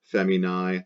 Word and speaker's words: feminae: So it's going to be, because of the genitive singular ending in AE pronounced I, going to be the first declension feminine. So you chop off the AE pronounced I of the genitive singular, femina, feminae, the stem femin in the rest of the nouns blanks.